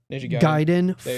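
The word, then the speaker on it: Gaiden: Then Ninja Giden said it right.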